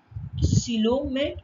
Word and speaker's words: coelomate: Such animals are called as coelomate or eucoelomate. That can be pronounced in both ways.